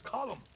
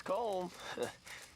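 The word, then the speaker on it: Colm: cold calm it's column in Ireland we say column well uh but he likes comb he's American is Irish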